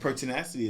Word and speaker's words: pertinacity: And pertinacity is spelled p er t i n a c i t y.